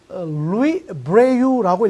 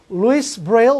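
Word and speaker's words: Louis Braille: 이 사람은 루이 브레유라고 읽어야 되는 프랑스 사람인데요. 아무리 프랑스 사람이라도 영어 이름이니까 루이스 브레일이라고 발음하겠습니다.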